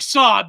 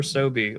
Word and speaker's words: SoBe: I wonder if the guys are drinking Sob back in like however was it pronounced, Sob or Sobe? Like I think Sobe, but yeah, Sobe. Okay, yeah.